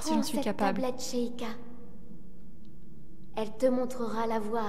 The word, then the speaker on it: Sheikah: Alors normalement on dit Sheikah et pas Sheikah, mais... Après ça c'est toujours des petits défauts de traduction hein, au niveau de la prononciation.